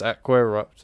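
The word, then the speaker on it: Aqua Eructo: buy that at all it's lumos and it's Aqua erupt so and it's repario that's the way it should be I will not have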